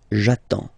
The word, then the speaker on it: j'attends: Okay, you get D and S, well, basically you don't pronounce them, okay, and then you get only the sound attends, nasal here, en, j'attends, okay.